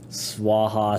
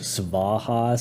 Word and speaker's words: swaha: Swaha sometimes is spelled in English suvah. So it's v sv suvah. In this case it's swaha. Usually it's swaha. So these can be pronounced as a vw combination or you can pronounce it more so with the v at the start. Goind dia then swaha at the end with the w sound.